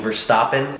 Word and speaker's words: Verstappen: It was a really, really close drive between Verstappen, that's how you pronounce his name, and Hamilton, as per usual, as it kind of seemed it's been all season.